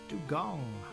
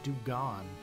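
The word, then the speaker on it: Dewgong: Dong. I never pronounce that right. Do I? Don. Dong. Like a gong. Weird. I just thought I'd always remember the animal saying anime saying do gone.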